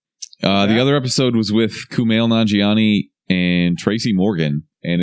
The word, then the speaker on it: Kumail Nanjiani: the best part about it they got uh Camille naughty Johnny what's his name Wow you butchered that coming back here you're a pile of crap the Camille's grape Keith Kumail Nanjiani Kumail Nanjiani he is actually hilarious you know